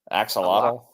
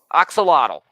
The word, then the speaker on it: axolotl: Axolotl. Axolotl, yeah, called Lottie, and they're walking around looking for fresh water.